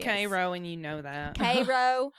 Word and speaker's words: Cairo: i don't love that for you illinois it's pronounced cairo kentucky state police detective donald wilson was put